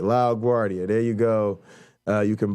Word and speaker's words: LaGuardia: name though he always thanked me for uh pronouncing it right lao guardia there you go you can buy it from